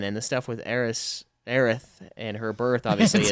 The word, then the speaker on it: Aerith: is right before 7, and the stuff with Aerith and her birth obviously is way before. It's hard to say the name right now, isn't it? I know. Well, Aerith is how it's supposed to be pronounced, but we're so used to the wrong